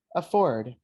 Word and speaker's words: afford: so the first one where do we emphasize it in ah or ford the stress for fort so we say afford a afford can you guys pronounce